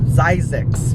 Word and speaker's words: Zzyzx: the heck is that and how do you pronounce that word so it's size X so I'm driving this road it's super long